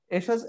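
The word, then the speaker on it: Ersatz: হ্যাঁ, টিটা উচ্চারণ হবে না। হ্যাঁ, এশাজ, এশাজ মূলত একটা জার্মান ওয়ার্ড, যেটা কিনা বলে রিপ্লেসমেন্ট বা অর সাবস্টিটিউট।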